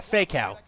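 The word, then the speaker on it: Faykow: was Atao because his brother is Fakeow, and it's spelled F-A-Y-K-O-W. Oh, yeah. I was like, yeah, Fakeow.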